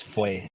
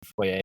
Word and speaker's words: Foye: It's Foye, not Foye, but you're not the first one to call it that.